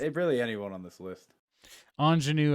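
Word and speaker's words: Aunjanue: anyone on this list anjanu ellis is how it's pronounced uh anjanu i'm sorry is how her first name is pronounced gotcha so uh yeah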